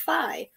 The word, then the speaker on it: Fi: in the gameplay and thought her name is pronounced B but it turns out that her name is pronounced Phi uh okay um all right uh hey Alexa